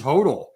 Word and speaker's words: HODL: been fact checked i believe the next correct pronunciation is hodl we've gotten the fact check that it is pronounced total for hold on uh apologies i said hot earlier a correction to my mistake earlier in